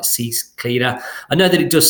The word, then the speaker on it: CCleaner: It's basically the letter C and then the word cleaner, so like CCleaner.